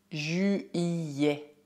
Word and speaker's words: juillet: Bem, aqui está um mês que é um pouco complicado de pronunciar. Já, neste caso, o U é dito da forma certa em francês, U, U. Para fazer esse som, faça a boca do O e diga I. U, U. Então, o duplo L é pronunciado Y, Y. Quanto à combinação E mais T, ela é dita E.